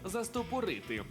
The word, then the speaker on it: застопорити: більш звичний варіант був застопорити але правильно все ж застопорити і засторити Я думаю застопорити а застопори блін та що це таке зафіксували у слові застопорити наголос на другий склад застопорити А чому такі